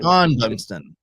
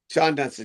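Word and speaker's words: Shawon Dunston: How about it's actually Shawan Dunston, but it's actually pronounced Sean Dunston. Sean Dunston, yes.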